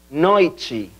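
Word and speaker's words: noite: la noche Buenas noches atención a la pronunciación de la palabra noche en portugués sería noichi repitan ustedes noichi muy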